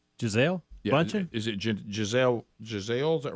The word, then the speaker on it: Gisele: you say her name Giselle is it Gisele Giselle is that right yeah so anyway she uh